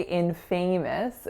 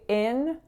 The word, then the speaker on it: infamous: But we don't say infamous, we say infamous. So winner on in and then schwa, schwa.